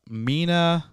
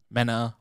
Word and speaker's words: Mena: is going to be cast as by uh mina mena masood thank you arjuna with the pronunciation he's most known for the live-action adaptation